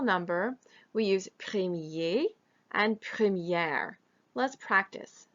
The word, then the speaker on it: première: When we say première, notice that you hear the R sound pronounced.